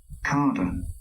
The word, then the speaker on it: cadre: হ্যাঁ, দেখেন উচ্চারণটা CADRE, Carder.